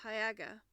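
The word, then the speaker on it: Haigha: does them when he's happy his name is hayaga he pronounced it to rhyme with Mare I love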